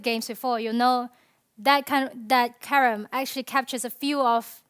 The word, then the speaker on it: Carrom: The right pronunciation is Carrom, but you'll hear the English call it Carrom, but it's Carrom.